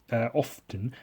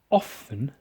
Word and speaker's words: often: So I moved out of my folks' home, where I would often play video games. Pronouncing the T in often is silly. You shouldn't do that. My mistake. My apologies. Where I would often, play video games for hours on end.